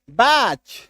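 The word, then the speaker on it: batch: अभी देखो बी ए टी सी एच टी को काट दो। टीसी एच दिखा। टी को काट दिए। बैच एस सी आर टी सी एच स्क्रैच डब्ल्यू ए टी सी एच वॉच क्यों क्योंकि टी को काटना है टी को मान के चलो है ही नहीं एच आई टी सी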